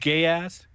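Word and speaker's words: geas: incredibly potent and Powerful geese spell geese spell g e a s oh gas g I'm familiar with it it's G sorry it's I'm sorry I butcher it every time it's pronounced gay ass the more and more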